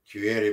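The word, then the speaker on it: kwaheri: Kuere is spelled with a K, but it's pronounced with a Q. Kuere means goodbye. Quiere means goodbye.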